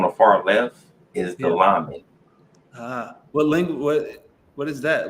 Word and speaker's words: lamed: Lamed?